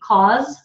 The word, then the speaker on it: cause: Cause is the S spelling, but it's a Z sound.